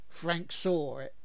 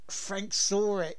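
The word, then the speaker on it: Frank Sahwit: before we start this let's tell a joke Frank saw it Frank saw it yes yes that's that that's the pronunciation of course he saw it [ __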